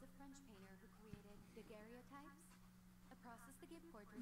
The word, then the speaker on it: daguerreotype: Daguerreotypes? I think it's just pronounced daguerreotypes, but oh well. It is just pronounced daguerreotypes. I've never heard daguerreotypes. Whatever. It's written by a Frenchman. Maybe he knows how to pronounce it correctly and we don't.